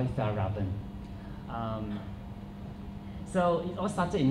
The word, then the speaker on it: Fjällräven: So it's from Sweden, so you can call it it's a bit Swedish, they pronounce Fjällräven, but I try not to do that. American, they call it Fjällräven, but I like to call it Fjällräven.